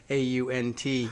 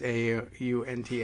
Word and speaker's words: aunt: I have the, of course, unfortunate East Coast New Jersey-ish accent that makes me pronounce A-U-N-T, or want to pronounce A-U-N-T as aunt, as opposed to aunt.